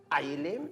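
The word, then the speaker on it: Ayélé: Aïlé s'écrit A, Y, E, L, et E.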